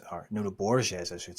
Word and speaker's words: Nuno Borges: Yeah, so he'd drawn against Nuno Borges, or Nuno Borges, I should say. That's how it's pronounced.